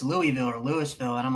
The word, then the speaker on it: Louisville: Ooh, I say it both ways, but it's Louisville. Thank you. Because the people in sports, other will be like, it's Louisville or Louisville, and I'm like, that's not how you say it.